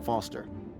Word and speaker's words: Foster: I'm Foster. I'll remember that easy because your name rhymes with fossil and your eyes.